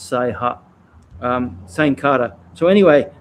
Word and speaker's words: Saiha: uchi nadi the uh okinawan language is that right sai pha i believe mike clark uh and in kyokushin in the old days sometimes it was also called safa but in japanese it's say ha huh sane cutter so